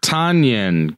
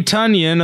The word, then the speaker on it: Tonyan: up we have robert tanyan good old or excuse me tanyan everybody's been saying it wrong uh good old bobby tonyan of the packers had seven